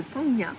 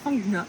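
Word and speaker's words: Phang Nga: dans la baie de fangna je crois que ça se prononce comme ça en français fangna et en fait c'est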